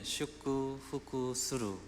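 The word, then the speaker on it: 祝福する: 잘 아는 축복하노라 찬송입니다 일본는 슈쿠 후쿠 수루 발음을 합니다 축복합니다 축복하노라 하나님의 축복이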